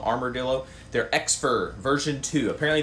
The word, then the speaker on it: Armordillo: guy this is the armor dillo i think it's how you say it like armor armadillo armor dillo they're exfor version two